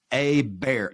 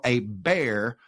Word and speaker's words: Hébert: said he said uh just pronounce his name like this a bear like you saw a bear in the woods and so and so